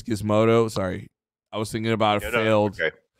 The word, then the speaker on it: Gizmodo: Wow, Gizmondo really changed. And it's pronounced Gizmodo. Wow, yeah. Oh, it's Gizmodo.